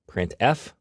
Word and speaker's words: printf: They are pronounced printf, putcar, and puts.